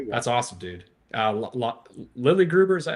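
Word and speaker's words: Lille Gruber: Lily Gruber, is that how you say his name? The drummer? Lily Gruber, yeah.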